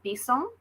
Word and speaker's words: Bisson: name your name right well it's french so in french we pronounce it bison but this in the